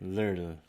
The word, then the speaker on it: 를: lirl, lirl, 를. lirl. I have an R right here. Just I feel like it's a little bit closer to the R, but it's still like lirl, 를.